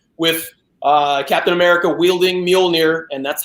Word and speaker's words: Mjolnir: Matt just mentioned with a Captain America wielding Mjolnir and that's how you say it Anthony music